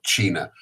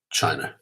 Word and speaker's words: China: Do you say it like the country or China? China. That's how you pronounce it.